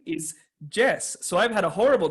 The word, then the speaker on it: Jess: say yes in English, and my name is Jess.